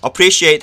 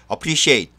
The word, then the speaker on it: appreciate: Appreciate 하면요, 감사하다인데요. 어의 발음을 굉장히 약하게 해서 appreciate 혹은요, appreciate 이렇게 발음을 합니다.